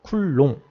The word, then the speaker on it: 쿨롱: 뭐 쿨롬이라고도 읽고 쿨롱, 이응 받침으로 읽기도 하는데 저는 쿨롱이라고 읽겠습니다.